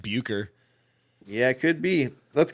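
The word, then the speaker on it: Bucher: staying inside the car busher busher butcher just gonna go butcher there's no T so it throws me off yeah b u c h e r i how he know it's not like buer yeah it could be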